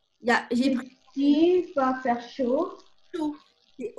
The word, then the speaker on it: chaud: Parce que chaud, ça se dit chaud, on entend O, mais ça s'écrit A-U-D.